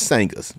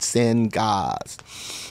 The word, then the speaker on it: Sangahz: so now you know it's sanghas right not send gods note sometimes people accidentally spell it s-a-n-g-h-a-z it's not saying Haas is saying Oz okay just getting that